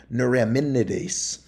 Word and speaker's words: neuraminidase: hemog glutin and nurin so hard for me to say that neuraminidase um there's an extra syllable in there but now the neuraminidase